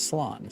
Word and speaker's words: Slán: A shortened version of Slán. Slán Mabahale, or Safe Journey Home. One dialect would pronounce it as salon.